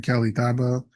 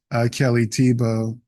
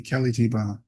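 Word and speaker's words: Kelly Thiebaud: I've been calling her Kelly Thabo, but her name is actually Kelly Tebow.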